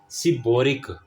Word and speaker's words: seborrheic: ठीक है, फिर हमारे पास होता है सिबोरिक। ठीक है, SEBORRHEIC, यस यही स्पेलिंग, सिबोरिक डर्माटाइटिस।